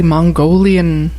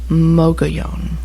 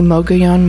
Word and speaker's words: Mogollon: know algalon no I have heard people say Mongolian I have heard Mogollon I've heard McGeehan I've heard mug alone it is mocha Yong bogey on the Moga yon monster from the Mogollon Rim from the girl